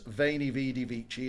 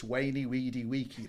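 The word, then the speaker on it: veni, vidi, vici: No, it's not vainy vidy vichi. It's wayy weedy waky.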